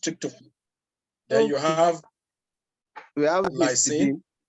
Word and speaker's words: tryptophan: Triplotan. What? Triplotan. Triplotan. Lysine. right? We have Factor. histidine. We have histidine and arginine. Okay, you have tryptophan. That thing is called Yes, sir. Yes, sir. pronounced tryptophan.